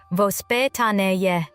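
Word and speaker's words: воспитание: It's pronounced vospitaniye.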